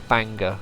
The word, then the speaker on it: Bangor: when I was in Bangor perhaps or Banger as people say it's supposed to be pronounced uh and maybe I